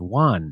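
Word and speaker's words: yuan: in their own denomination I think it's like it's pronounced Juan now that's from March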